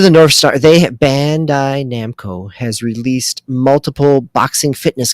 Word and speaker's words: Bandai Namco: it doesn't sound right bandai namco there we go i was putting the the co in the wrong word that's why it didn't